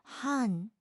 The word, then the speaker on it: 한: 한, Initial H, vowel A, final N. Han.